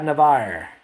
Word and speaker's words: Navarre: Oh, yeah, Navarre. Beach Buzz. The E is silent.